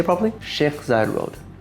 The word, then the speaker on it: Sheikh Zayed: Sheikh Zayed Road.